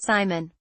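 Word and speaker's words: CIMON: off the dragon will deliver the robot Simon pronounced Simon slightly bigger than a basketball the round 3d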